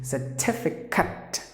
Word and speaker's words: certificate: The perfect way to pronounce the word is certificate. Certificate, not Kate. Please don't say it as Kate, the ending.